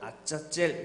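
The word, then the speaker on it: עזאזל: 그래서 우리는 한글로 써있는 아사셀이라고 읽지만 히브리어는 아짜젤 뭐 이런 식으로 합니다.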